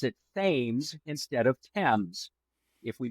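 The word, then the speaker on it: Thames: a river that is spelled just like the one in London England but they pronounce it themes instead of TS if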